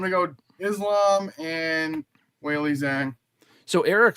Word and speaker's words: Zhang: But Johnny did ask for RJ, who are you picking between Islam versus Jack and Valentina versus Zhang, if I pronounced that correctly?